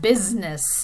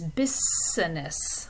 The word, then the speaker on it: business: I've often heard Spanish speakers pronounce it as business, like without the voicing on the S. And if you explain that that middle sound has voicing in it, it makes it much